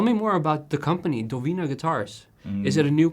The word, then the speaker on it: Dowina: name doina uh okay so the pronunciation is doina well it's actually you